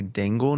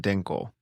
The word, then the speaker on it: Dingle: And I want to say Dingle, not Dinkle. It's like Dingleberry. Yeah, you're overthinking that one. I've already things you're overthinking. That one you're overthinking. Dingle. As you say it as it's spelled. D I N G L E.